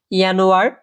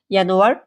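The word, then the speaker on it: Januar: কি বলে আপনারা জাস্ট আমার সাথে রিপিট করবেন ইনোয়ার ফেব্রুয়ারি মেস এপ্রিল মাই ইউনি ইউলি আগস্ট সেপ্টেম্বর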